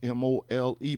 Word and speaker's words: Mole: And I decided and I was just looking in Africa and I saw the name Mole, M O L E, pronounced Mole, in Ghana.